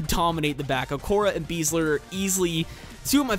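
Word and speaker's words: Besler: Now, that is how you pronounce it. Matt Beasler. I've heard a few people use him in their squads and pronounce it Beasler. It's actually Beasler.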